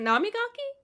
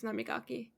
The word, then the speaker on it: Namigaki: Is it Namigaki? I've been saying his name wrong? Yeah, I've been saying his name wrong. It's Namigaki. Namigaki.